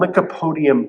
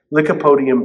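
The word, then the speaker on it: lycopodium: And then I found this online uh this substance called licapodium powder. Licipodium powder. So sounds like uh lick a podium, but it's spelled L Y O P O D I U M.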